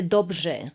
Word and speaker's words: dobře: Y en checo se dice dobře. Dobře. Ajá. O sea, es el j con la r. Ajá, es combinación ž y r.